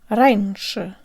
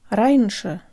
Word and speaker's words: раньше: draw dung heaps o de Bruyn ensure order Ranger Ranger Ranger Ranger Ranger Ranger that's it guys be